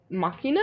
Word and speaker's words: machina: Machina? Mm-hmm. But it's like machina, like machine. M-A... yeah, but it's a Latin word and it's pronounced machina.